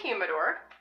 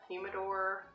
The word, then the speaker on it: humidor: So this is a humidor, or a humidor. I've heard it pronounced both ways.